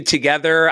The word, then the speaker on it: TOGETHXR: so we're tracking this we have the new together i learned how to pronounce that right uh cease and desist here